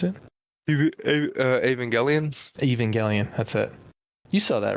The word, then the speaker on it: Evangelion: Is that how you pronounce it? Evangelion? Evangelion.